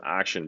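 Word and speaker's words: Axeon: of his name and we create the Axion team but then we pronounce action because action is also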